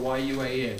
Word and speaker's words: yuan: Well, here we have the Chinese, it's spelled Y-U-A-N, yuan.